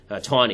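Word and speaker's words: Taney: there is a judge Justice named Roger tany ton is how it's pronounced actually and justice justice ton who's the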